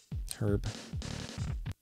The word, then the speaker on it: Herb: albert the tijuana brass right herb herb albert i always thought it was hurt albert i i think i